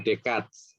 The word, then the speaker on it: Descartes: René Descartes, bacanya Descartes, ya.